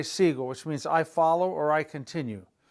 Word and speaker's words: sigo: Sigo, go. Sigo. there's no need for a U. If we put a U there, it'd be seguo, seguo. That's not going to work, sigo.